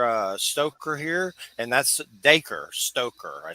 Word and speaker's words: Dacre Stoker: we got daker uh stoker here and that's daker stoker I said it right okay say it over